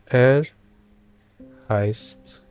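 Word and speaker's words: er heißt: is fabio okay and you can Say it like this. Air heist because Fabio is a man.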